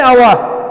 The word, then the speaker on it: hour: For example, an hour, because H is silent, an honest, because H